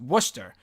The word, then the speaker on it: Worcester: turnout Worchester or warchest or whatever that's how it's spelled wor CH e st ER you would think it's Worchester but it's pronounced Worcester even though you would think it would be